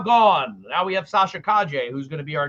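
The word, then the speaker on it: Calle: cavill is now gone now we have sasha kaje who's going to be our new by the way that's our name it's pronounced kaje i looked it up i did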